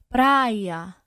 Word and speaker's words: praia: Isso se dá porque quando a gente vai pronunciar essas palavras, é como se o I, a vogal I, ela fosse prolongada. Seria assim, vou colocar aqui na tela para vocês. É como se a gente escrevesse assim, ó. Pra e a com dois i's, tipo, praia. Vê como eu falo, praia.